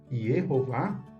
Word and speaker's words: Yehová: Yeho, primeira sílaba, e Vá, segunda sílaba. Yehová tem a ver com